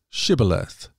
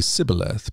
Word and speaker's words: shibboleth: no I am not they would tell him to say shibboleth if he was from Ephraim he would say sibileth because people from Ephraim cannot pronounce the word correctly then they would take